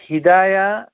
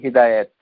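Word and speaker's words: هداية: তা'আলা তিনি হেদায়া করেন আমাদের বাংলাদেশের জনগোষ্ঠীর কাছে হেদায়েত হেদায়েত এরকম হে বেছে এই ধরনের উচ্চারণ আরবি ভাষায় নাই এটা কি এটাকে আরবিতে হিদা হিদায়া হিদায়া আরেকটি হচ্ছে এটি হচ্ছে তা মারবুতা সুতরাং এখানে হিদায়াত এটা অশুদ্ধ বলতে হবে হিদায়া হিদায়া হিদায়া এটি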